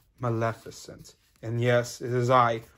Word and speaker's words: Maleficent: you're the dragon lady magnificent actually it's pronounced maleficent and yes it is